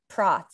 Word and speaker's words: Prots: Today, I am with a fellow astrologer, TikToker, Cole Prots. I just realized I didn't ask if this is how you pronounce your last name correctly. Did I pronounce it correctly? You did perfectly.